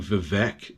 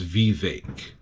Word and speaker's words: Vivek: So it's Vivek Ramaswamy. I know I pronounced his last name properly, but I was saying his first name wrong. I was saying Vivek, but apparently it's Vivek.